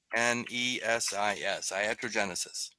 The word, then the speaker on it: iatrogenesis: It's spelled IATROGENESIS. Iatrogenesis.